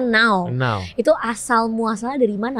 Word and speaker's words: Nau: dari mana nama n tapi kan kalau ditulis ditulisannya e n a u walaupun cara bacanya ternyata now itu Asal muasalnya dari